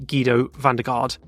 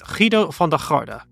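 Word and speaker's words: Giedo van der Garde: Howen Ganley Kido varda so most people just say understandably gido vard but yeah because it's dutch it's Kido varda Frank Gardner Billy Garrett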